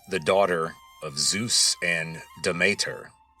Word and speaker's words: Demeter: She was the daughter of Zeus and Demeter, otherwise known as Demeter or Demeter. The original pronunciation was something like Demeter, if you're going with the Attic pronunciation.